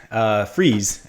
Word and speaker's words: Freas: Freas is how you say it, right? Freas?